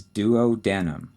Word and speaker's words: duodenum: The first one is duodenum. D-U-O-D-E-N-U-M.